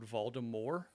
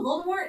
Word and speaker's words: Voldemort: them like say Lord Voldemort, you know, because and I was like no, this is English book. We're not doing French pronunciations. We pronounce the T.